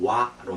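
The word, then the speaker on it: は: 그래서 하로 읽지 않고 와로 읽는다고.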